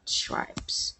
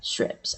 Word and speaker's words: stripes: Strips. I don't know how to pronounce it. Stripes, strips. But I think it's a stripes. Am I right? Let us try to hear first. Stripe. Stripe. So it's not strips, it's a stripe.